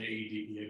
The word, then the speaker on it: AEDPA: And I will pronounce it AEDPA because as a Fed, I do love the acronyms. I have to give each letter its due.